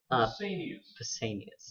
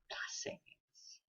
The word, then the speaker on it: Pausanias: How do you pronounce his name again? Pausanias, yeah. Pausanias.